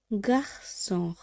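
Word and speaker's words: garçon: যেমন গার্সন, এখানে সে সেজেই ব্যবহার করা হচ্ছে, এখানে সে সেজি ব্যবহারের জন্য এর উচ্চারণ হয়ে যাচ্ছে এস বা সয়ের মতো, গার্সন।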